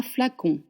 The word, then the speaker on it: flacon: Le parfum le flacon un flacon flacon fla which is a very open mouth fl con con is a semi together like you make the sound flacon le flacon de parfum